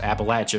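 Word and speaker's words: Appalachian: in the beautiful appalache mountains and yes it's pronounced appalache for those of you who aren't from here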